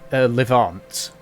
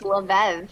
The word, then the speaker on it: Levev: The other one is Levant. You can see he's just walking with a quarterstaff. Levant? It's Levev.